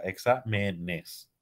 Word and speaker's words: exámenes: plurales al plural izarse examen no lleva tilde examen pero cuando es más de uno al pluralizar se adquiere la tilde porque deja de ser una palabra llana examen para hacerse esdrújulas exámenes en una sílaba más